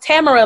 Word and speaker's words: Tamara: Yes, so on every platform, my name is Tamara Music, and it is pronounced Tamara like camera, but it is not spelled like camera.